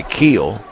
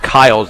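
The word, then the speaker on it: Keil: was committed by Keel make it Kyle's the correct pronunciation spelled ke i l HF to throw it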